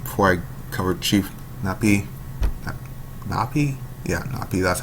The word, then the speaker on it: Napi: Napi? Yeah, Napi. That's how it's pronounced.